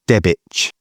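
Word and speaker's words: Debach: We were at, it's pronounced Debich or Debich. The spelling is Dabach, which is down in Suffolk.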